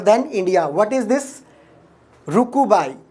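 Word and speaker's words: RUCUCBAI: Rukubai. C is silent, this second C is silent here. Rukubai, you can call it Rukubai, right?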